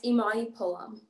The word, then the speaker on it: Imani Pullum: joined today by imani is it amani pullum is that how you say it properly yeah it's imani pullum imani pullum fantastic uh